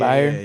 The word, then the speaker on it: Byard: Is that how you pronounce his Byard. name? Byard.